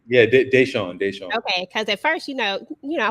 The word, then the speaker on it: Deyshaun: Because I've been trying to pronounce everybody's name correctly. Yeah, Deyshaun.